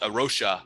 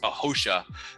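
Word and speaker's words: A Rocha: steward group uh called arosha or it's actually pronounced hosha uh it's a portuguese based group uh but they're they're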